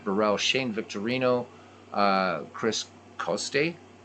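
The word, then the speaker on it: Coste: Shane Victorino uh Chris costay if you say it in Italian it's Coast State so um and Pedro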